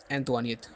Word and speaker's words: Antoinette: रखना है, queen Mary एंटोनियत, ठीक है, इसका स्पेलिंग आप लिख लें, ANTOINETTE, एंतवानियत, ठीक है।